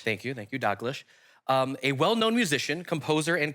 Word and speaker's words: Dalglish: She worked with Malcolm, Evie, how do you pronounce his last name? Dalglish. Thank you, Dalglish.